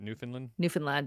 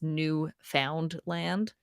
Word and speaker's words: Newfoundland: That's how you pronounce it, right? Newfoundland, yeah. But if you were to read it like phonetically, it's Newfoundland.